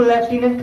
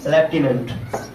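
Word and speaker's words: lieutenant: ऐसे Lord लेफ्टिनेंट, इसको लेफ्टिनेंट पढ़ते हैं, क्या है, लेफ्टिनेंट। आप लोग कुछ और मत पढ़ लीजिएगा।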